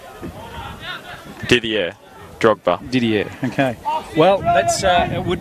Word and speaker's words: Didier: In fact, apologies to him, I don't know how to pronounce his first name. Didier Drogba. Didier, okay.